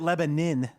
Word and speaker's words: Lebanon: That The locals pronounce it Lebanon.